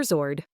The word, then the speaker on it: sword: Silent W, often before R or in specific words. Right. You only hear right. Anwer. You only hear answer. Wrong. You only hear wrong. Sword. You only hear zord.